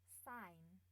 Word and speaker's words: sign: Wanti Iya Mbak Wanti bisa ulangi Nomor 14 sign bukan s a i n sign iya iya heeh bukan ee Mbak Wanti Bacanya jangan huruf e bacannya hurufnya s a